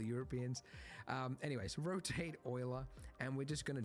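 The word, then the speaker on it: Euler: Uh we need to add shift a utilities, rotation, rotate, not uler, oiler. Yes, I know they went with the weird pronunciation.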